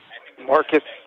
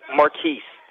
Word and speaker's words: Marquise: air what's your name Marcus marquise marquise marquise I've been pronouncing it wrong the whole time see Wow yeah no